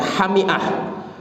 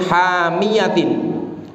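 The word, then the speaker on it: حامية: Tapi ada pendapat yang lain, pendapat dari Abdullah bin Abbas radhiyallahu anhuma, wajadaha taghrubu fi ainin hamiyatin, yaitu bacanya itu bukan hamiah, tapi bacanya itu fi ainin hamiyatin.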